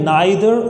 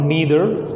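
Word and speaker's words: neither: Look one more thing, जो pronunciation रहती है इन दोनों शब्दों की, इट कैन बी आइदर और ईदर, और जो ये शब्द है ये है नाइदर और नीदर।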